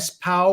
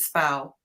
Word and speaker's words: SPOW: Do you call it SPOW or something? How do you? It's too long a name. I call it SPOW. Some of our members call it SPO, but I pronounce it SPOW.